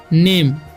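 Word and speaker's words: name: नेम, एन से हो जाएगा न और ए का उच्चारण यहाँ पर ए होगा, एम से म, ठीक है। ई का उच्चारण यहाँ पर नहीं होगा, तो इसे पढ़ते हैं हम नेम, नाम ही नहीं पढ़ना है।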